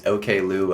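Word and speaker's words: Oklou: in an interview and I was say oakl the whole time yeah it is not oakl it is okl apparently and you now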